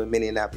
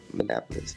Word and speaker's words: Minneapolis: was actually in Minnesota minap is that how you say it Minneapolis Minneapolis yeah that's where I was